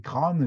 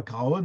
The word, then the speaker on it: Craonne: de la guerre 14 de la même manière que on prononcé crâne et qu'on ne disait pas Craonne avant qu'il a chanson